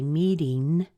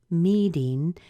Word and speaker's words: meeting: that quite often really I say meeting meeting technically it should be meeting with the ng but either one will work so meeting meeting meeting our stress is on the me and the ding is unstressed but you're hearing the